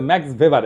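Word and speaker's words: Max Weber: আর একজন দার্শনিক আছে ম্যাক্স ভেবার, এটা ওয়েবার বলে অনেকে, এটা উচ্চারণ আসলে ভেবার।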